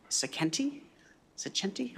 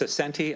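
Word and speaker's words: Saccenti: go to uh Mr saken centi I apologize if I mispronounced it it's centi um and thank you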